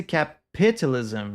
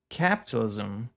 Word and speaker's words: capitalism: Like you can't say capitoism, you know, you have to say capitalism. Like you're supposed to put the emphasis on a specific syllable and unless you've heard